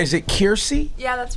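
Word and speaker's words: Kiersey: Is it Kirsty?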